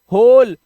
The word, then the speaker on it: hole: इसी तरह से HOLE, HOL को HOL से ही पढ़ लो भाई, ई लास्ट का साइलेंट कर दो, होल।